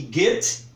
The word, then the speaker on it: Goethe: temos que lidar ele com eles temos que pronunciar corretamente por isso eu sei que Guettho é Guettho como está escrito aqui escreve-se Goethe